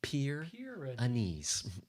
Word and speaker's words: Pyrenees: Pierre needs thank you for the annunciation or pronunciation Anna Pyrenees everybody say it now at home Pierre Inez we're having fun but if cats are the